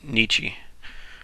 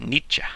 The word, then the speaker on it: Nietzsche: Or if you want to be really pretentious, you can pronounce it Nietzsche. But don't. I don't know. It's probably the proper way to pronounce it. But Americans will pronounce it Nietzsche. And I'm okay with that. Nietzsche. I'm fine with that.